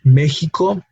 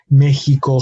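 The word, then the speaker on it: México: No, usually it shares that same sound, but it can also be pronounced like the Spanish J, which we covered already, which is a similar to the English H, and that is the case in words like Mexico. We have the letter X, but we have the sort of H pronunciation in the middle syllable.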